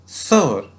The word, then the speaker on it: Thawr: ये थौर नहीं है, ना ही ये दौर है, ये क्या है? सौर, सौर, सौर।